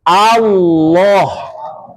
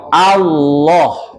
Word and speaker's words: Allah: ini yang benar cuman dibacanya harus Allah seperti condong ke o dan itu perlu dilatih Pak makanya yang belajar Jangan mengatakan Allah lagi tapi Allah Allah wahamab barangkali itu yang